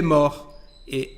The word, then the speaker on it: morte: Il est mort et elle est morte. Il est mort, elle est morte. Como lo pueden ver aquí, la pronunciación del participio pasado forma femenina es diferente.